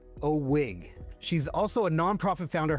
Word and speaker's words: OWIG: That's pronounced OWIG.